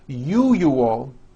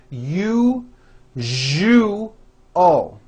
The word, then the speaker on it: usual: are very very common if you are someone that pronounces the word usual as you you all I'm telling you you are not being understood let me show you how to pronounce the word usual correctly break it up into three syllables you jus oh that second syllable jus the one with the underline needs to be voiced put your hand on